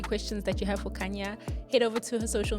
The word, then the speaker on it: Khanya: y a I know everybody's like isn't a Kan no so I'll pronounce it Kanya 91 so that it's EAS everybody to get